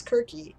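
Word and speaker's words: Κίρκη: put on it by kirky so you can't see it or seriously as some people call her but it's quirky is how it's actually pronounced in greek right so that's an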